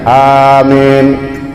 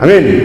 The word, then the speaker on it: amin: Kemudian makmum karena doa maka yu'amminun, makmum mengaminkan Allahumma dina fi man hadait, amin. Ya, A-nya panjang, min-nya panjang juga, itu yang bagus ya. Jangan amin, itu udah kesal namanya.